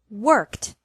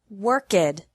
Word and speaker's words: worked: This means that the past tense of work is pronounced worked and not worked.